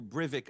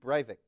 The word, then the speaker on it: Breivik: of the world's greatest terrorists in Europe Andrew brivik I don't even know how to pronounce his name uh Anders Anders bearing Breivik yes yeah and this is the man accused